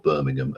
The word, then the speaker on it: Birmingham: for those who don't know it's Birmingham or Birmingham as it's properly pronounced rather than the wrongly uh pronounced one